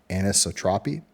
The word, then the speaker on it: anisotropy: something really useful in Blender called, I always mispronounce this word, but it's called anisotropy.